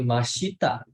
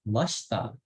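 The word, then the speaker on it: ました: Masta ya Sumi Masta bacanya bukan Masyita tapi Masta i nya itu kayak ilang gitu minasem yasumi Lalu ada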